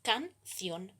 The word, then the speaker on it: canción: La división en sílabas es entonces canción. El acento tónico está en la última sílaba.